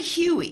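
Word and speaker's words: hui: Family Huey. Thank you. Huey is a Hawaiian word meaning to come together.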